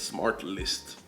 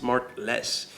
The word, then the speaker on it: SmartLess: it like it's new it's called smartless like smartless I don't know what they kind of pronounce it like it's smart list like every time I've heard it it's always like smart list smart list no it's smartless so it's like hosted